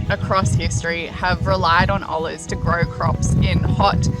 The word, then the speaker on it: olla: Spelled O-L-L-A, the Spanish word is pronounced olla or olla.